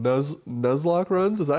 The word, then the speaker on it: Nuzlocke: this thing that competitive Pokemon players do called Nuzlocke runs is that how you say it Nicole